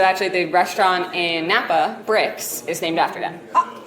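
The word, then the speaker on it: Brix: And so we start with the grapes being at what we call like bricks, so like 26 bricks.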